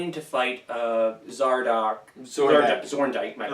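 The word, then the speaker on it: Zorndyke: So basically, it's the human forces trying to take out Zordyke. Zordyke. I said it right the first time.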